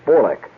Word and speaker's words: Bolek: Polish from from uh Bolek, which is more properly pronounced in Polish as Bolek.